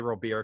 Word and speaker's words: Luis Robert: is back you have luis robert or luis robert coming back i always say real beer because that's the way he talked about how it's supposed to be pronounced um but he's gonna